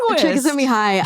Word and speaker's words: Csikszentmihalyi: Mihaly Csikszentmihalyi, is that how you say it? Csikszentmihalyi.